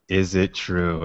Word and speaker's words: Izitru: Izitru, and it's spelled Izitru. Izitru. We call it phonetic, Sarah. Right. It's phonetic.